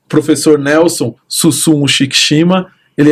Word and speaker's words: Shikicima: Shikishima se escreve, vai aparecer aqui embaixo, né? Mas é Shikishima, tá?